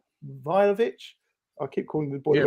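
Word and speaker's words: Vlahović: So I looked at, I can never pronounce his name, Vlahovic. I keep calling the boy Vlahovic. Vlahovic.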